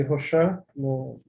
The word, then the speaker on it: Rochas: Em 1862, o engenheiro francês Biot de Rochat, apesar de se escrever Rochas, é Rochat, né?